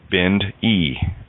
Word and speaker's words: Bindi: For example, our dear friend Bindi, she's her tag is spelled Bindi, so it sounds like an E, Bind E, right?